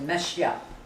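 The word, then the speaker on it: משיח: Messie, c'est juste un mot hébreu qu'on prononce en français. C'est Mashiach.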